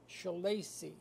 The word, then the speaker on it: Schillaci: l l a c i how do you pronounce it again shaly shaly right is this uh what is the